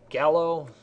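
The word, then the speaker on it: GALO: So we have G-A-L-O, I pronounce it gallo, and what that means, you have greater than, acute, less than, obtuse.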